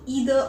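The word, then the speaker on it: either: ये रूल है related to ईदर और नीदर नॉर। इसे कई लोग आइदर और नाइदर नॉर भी कहते हैं, दोनों तरीके सही हैं। आप जिस तरह से चाहें इसे प्रोनाउंस कर सकते हैं।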